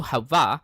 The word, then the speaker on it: Hava: Um, yeah, Havot, sorry, it's hey, not Hav. Uh, Hebrew Hava refers both to the